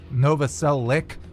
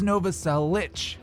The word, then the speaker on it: Novoselic: of christ's last name whether it's nova cell lick or nova cell lich it is nova cell lich i know there was